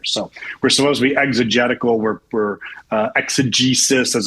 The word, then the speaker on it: exegetical: Uh, everyone in the LCMS should be exogetical, which means we bring out out of the text the meaning as opposed to we put it into the text.